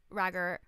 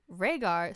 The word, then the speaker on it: Rhaegar: don't know is that a prince named Roger or as she pronounced it or Rhaegar how it's actually pronounced was married got an